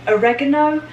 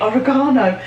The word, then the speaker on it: oregano: the next one oregano Americans say a recognized but in England we say oregano so throwing in some